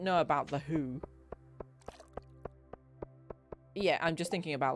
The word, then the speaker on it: Hu: who I'm talking about the new Mongolian who which is spelled Hu okay um not h no who um like I would